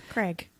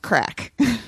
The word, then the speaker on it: craic: r a i c Craig it's actually pronounced crack crack spell it again